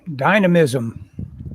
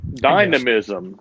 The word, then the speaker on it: dynamism: he talked about was dime diamond dynamicism that's not where i'm not saying that right how do you say that word dynamism dynamism there you go anyway make it